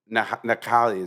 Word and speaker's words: Nakali: When I was in Key West, I was with Steve Nakali, is how you pronounce his name.